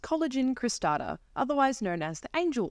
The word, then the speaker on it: Coelogyne cristata: that is very new to me and it's pronounced collagen cristata otherwise known as the angel Orchid it originates